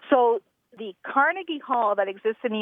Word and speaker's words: Carnegie: at again again caragi carnagi carnagi Accent on the second syllable with more of an a than a e right so the Carnegie Hall that exists in